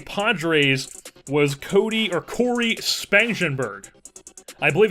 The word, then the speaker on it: Spangenberg: to from the Padre's was Cody or Corey spangenberg I believe it's pronounced spangenberg I'm pretty sure it's not spangenberg it's spangenberg so 76 overall 28 years old